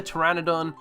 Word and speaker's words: Pteranodon: So just like the Pteranodon, the P is silent.